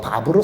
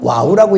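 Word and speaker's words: ו: 바브도 정답이고 와우도 정답인데, 저는 유대 랍비들이 읽는 발음을 저는 흉내를 좀 내보자, 유대인들 같이. 그래서 제가 바브로 선택한 거지, 이게 정답이고 와우가 틀려서 온 게 아니니까. 거기에 대해서는 여러분들이 한국식 신학자들이 얘기하는 발음은 와우라고 얘기하면 그렇게 읽으셔도 돼요. 틀린 거 없어요.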